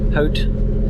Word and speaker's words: Howth: Um, and then hopefully we'll get to H Hot. It's spelled Hoth, but it's or House for English speakers.